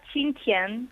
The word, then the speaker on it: Xinjiang: ¿Cómo se pronuncia la ciudad en la que estaba, entiendo, tu abuela? Se pronuncia Xinjiang.